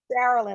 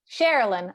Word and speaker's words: Sharilyn: Sharilyn, like Maryland. Sharilyn.